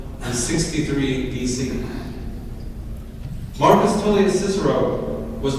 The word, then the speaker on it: Cicero: His name Cicero, or the scholars tell us might have been pronounced Cicero, actually meant chickpea, apparently because one of his ancestors had a nose in that shape.